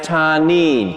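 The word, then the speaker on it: תנין: number of times it's a Hebrew word it's pronounced tarnin can you say tarnin and when you go to the Bible you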